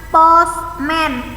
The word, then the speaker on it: postman: Selanjutnya tulisannya post, pakai T, postman, bacanya postman. T-nya nggak usah dibaca, lalu A-nya diganti dengan E, postman.